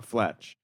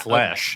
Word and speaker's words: Fletch: comma, Fletch. It's not Yeah, flesh. No, it wouldn't be Confess- flesh.